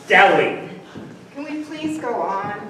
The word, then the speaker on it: Delhi: Delhi Diamond. Polly, it's the H is silent. It's Delhi.